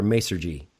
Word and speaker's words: Masergy: Ray is the VP of Global Technology for Masergy.